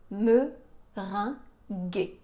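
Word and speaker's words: meringuée: son gu gu et donc on va avoir me ring la tarte au citron meringué et on va la goûter enfin je vais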